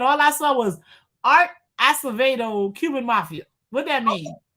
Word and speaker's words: Acevedo: and let's be clear art acevedo or acid i don't know how to pronounce that oh it's absolutely acevedo uh he is cuban